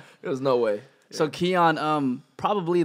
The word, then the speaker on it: Xian: was they never there's no way so kyon um probably like a lot of people in the world at first seeing your name it's Xin Bell so why is it pronounced kyon instead of like Zion so that's the way